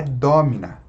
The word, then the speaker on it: domina: A única palavra proparoxítona é domina. Domina. Né? Ou seja, a tonicidade aqui na antepenúltima sílaba.